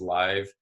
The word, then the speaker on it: Lyve: And with virtual events, you can check out our Facebook group, which is Live Online. Live is spelled LYVE, Launch Your Virtual Event.